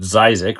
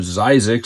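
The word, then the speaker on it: Zzyzx: across this off-ramp that I pronounce it Zizix, which I think is how you pronounce it.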